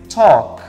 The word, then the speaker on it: talk: Eu não pronuncio L. O L is voiceless. Então vai ser talk.